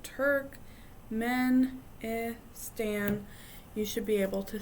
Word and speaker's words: Turkmenistan: there's Tajikistan Uzbekistan and Turkmenistan and these are this one is the longest but if you sound it out Turk men e Stan you should be able